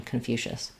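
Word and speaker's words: Confucius: the U so confu the letter c I say the sh sound and then um the o s just says awah confucious so that's uh the English pronunciation confucious um thank you okay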